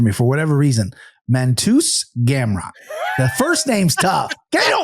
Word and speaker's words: Gamrot: My name is Mateusz Gamrot.